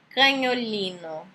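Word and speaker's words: cagnolino: A outra, canholino. Canholino. Entendeu? É como se fosse o som de NH. Canholino.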